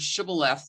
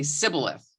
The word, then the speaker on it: shibboleth: hey you see what they did here is that you know the people from ephraim obviously pronounce the word shibboleth differently they say sybilis and so that was